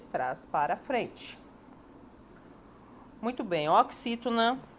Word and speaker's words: oxítona: Muito bem, oxítona são palavras cuja última sílaba é a tônica.